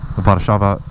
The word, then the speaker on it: Warszawa: It's the largest Polish population in America and in the world, only second to Warsaw, Warszawa, Poland, which is the capital of Poland.